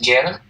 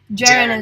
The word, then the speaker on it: gerund: Is it the verb ing is Jaren? Sorry? Jaren, apakah setahu kalau verb ing itu Jaren apa is it true? Jaren? Sorry, gerund? Yeah, Jaren. Sorry, I don't understand what. Gerund is in.